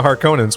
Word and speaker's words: Harkonnen: What do you know about the Harkonnens? Well, first of all, it's pronounced Harkonnen, and yeah, just punch him in the face.